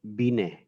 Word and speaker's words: Binet: The spelling of it is Binet when we write, but this is a French name, and when we pronounce it, it will Binet. It not Binet.